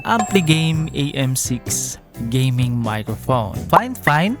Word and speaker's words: FIFINE: Fine Fine pala yung pagbigkas nito mga guys ha.